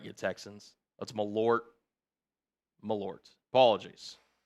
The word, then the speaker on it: Malort: Oh, is it pronounced with a T? So, Malort. Have I been saying it wrong? Is it Malort or Malor? Pronounce it right you Texans. That's Malort. Meort. Apologies. Malort.